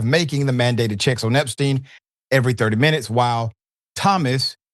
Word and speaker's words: Epstein: It's Epstein, okay?